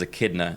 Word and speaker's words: Echidna: That Echidna is Echidna in Japanese pronunciation. The Japanese pronunciation of Echidna.